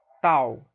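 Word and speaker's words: ταῦ: Aqui sim, agora você tem um T como em tal, né? Como em touro, aquele T, como a gente pronuncia aqui no Nordeste, né? T, tal, ok? É o nome da letra, tal.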